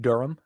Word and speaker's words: Durham: Oh, no H pronounced, just Durham.